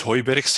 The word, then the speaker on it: Hooyberghs: probably a good thing it's hoyberex it's a dutch and it's actually a dutch word and if you're english